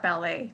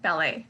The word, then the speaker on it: ballet: So the first one was all about stress.